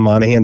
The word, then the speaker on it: Monaghan: You can just Google John Monahan. It's with a G.